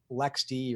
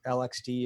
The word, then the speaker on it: LXD: and um and uh Lex D or lxd if you pronounce it the way I do uh this is what